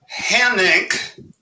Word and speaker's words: Hanink: Hanink is not a household name, but it rhymes with my financial condition, red ink.